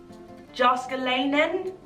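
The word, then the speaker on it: Jääskeläinen: this name Percy ilmari the surname begins with the J do you pronounce that or not I don't know I want to say no but I don't know why Chuck jaska line then jóska Lanen yes yup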